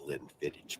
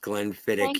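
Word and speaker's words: Glenfiddich: keep a bottle of Glenn fittage for special occasions it's pronounced Glenn fittich you fucking hick I didn't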